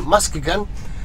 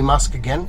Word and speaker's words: Muskegon: it's very exciting and yes I know you guys gave me grief for calling it Muskegon but for the day it is officially musk again it's spelled the saying it's got Elon Musk in the name it's very clever it's